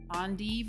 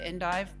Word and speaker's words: endive: notes of arugula, dill, endive, I think is how you pronounce that, although some people say endive.